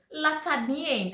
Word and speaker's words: La Tachadianne: So I asked her, "Hello May, how should I pronounce this soap?" She was like, "Hey Edem, Latadienne."